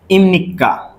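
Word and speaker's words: 입니까: ওকে দেখেন আমাদের এপিএস টপিকের ওয়ান লেভেলের প্রথম লেসনের যে গ্রামারটা আছে সেটা হচ্ছে ইমনিক্কা। ওকে প্রথম যেটা আছে সেটা হচ্ছে কি ইমনি যদি এটার বাংলাটা আমরা উচ্চারণ করি যে বাসিম যদি ব্যঞ্জন বিয়োগ বাসি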